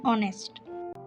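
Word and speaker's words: honest: শি ইজ an artist যেসব শব্দের শুরুতে এইচ থাকে কিন্তু তার উচ্চারণ করা হয় না সাইলেন্ট এইচ সেগুলোর আগে এন বসে উদাহরণ এন এন উচ্চারণ এয়ার অ্যান অনেস্ট ম্যান উচ্চারণ অনেস্ট মনে রাখার বিষয় এন কেবল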